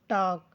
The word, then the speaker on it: talk: TALK टॉक, जिसमें L silent है।